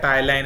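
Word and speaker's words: ptyalin: ये पी इसमें साइलेंट रहता है, टाइलाइन इसका सही जवाब है।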